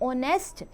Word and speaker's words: honest: यहाँ honest o sound आ रहा है बच्चों, h sound नहीं आ रहा because h is silent, right?